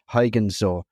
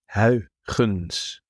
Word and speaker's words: Huygens: the pronunciation here, because in England we call him Christian Huygens or whatever, but I know that there's something in the throat that we need to be aware of there.